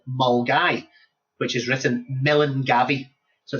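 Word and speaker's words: Milngavie: It's a place called Mulgai, which is written Millingavi. So it's pronounced Mulgai, and it's absolutely beautiful.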